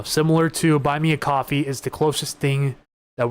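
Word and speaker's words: Ko-fi: I did also fire up the coffee, I believe it's pronounced coffee account for Puget Sound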